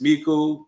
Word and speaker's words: Meaku: It's Meaku, that's how it's pronounced.